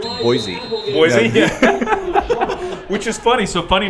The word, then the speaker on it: Boise: Idaho I have so people there call it boy C like like the letter c most everybody else calls